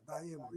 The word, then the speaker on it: Dayemo: Dayemo. Am I pronouncing that right, sir? Yeah, Dayemo, yeah. Dayemo, very, very good.